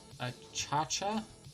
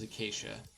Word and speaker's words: Acacia: I'm gonna go place the Achacha. It's not Achacha, it is Acacia. That's how it's pronounced.